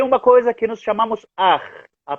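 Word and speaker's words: Akh: E tem uma coisa que nós chamamos Ar, a pronúncia é assim, Ar. A-K-H, assim se escreve em português. Ar, Ar. A pronúncia, se tivesse um J como os espanhóis, podia ser J, Ar, Ar.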